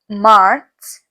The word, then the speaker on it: März: So it's Januar, February, March, and the A with the umlaut, it's pronounced as A. So März, April, A here without umlaut, it's pronounced as A.